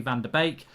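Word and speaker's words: van de Beek: der beck rather than van der beek it's bake it's bake it's van der beek it's like a bake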